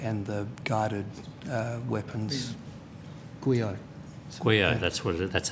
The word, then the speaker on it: GUIO: GUIO, that's how you say it, okay, all right.